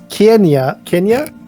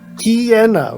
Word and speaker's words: Kiena: I will approach the priestess Kenya? How do you even pronounce that? Kiena, really? There you go. You like your key point with an N after it.